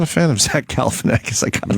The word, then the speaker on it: Galifianakis: All right, when we get back, we got the Obama Funny or Die interview with Zach Galifianakis. Yes, I want to hear that. I could finally pronounce his name after all these years.